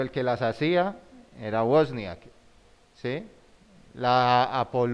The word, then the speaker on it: Wozniak: A Steve Wozniak, ¿cómo se pronuncia? Wozniak, sí.